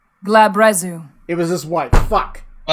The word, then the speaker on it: Glabrezu: Glabrizu? No idea. Okay. I have D&D Beyond up. I have Matt Mercer. I'm certain voiced it. Let's see what he says. Glabrezu.